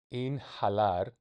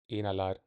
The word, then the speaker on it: inhalar: It's probably without the H. Let's look it up. Inhalar, without the H.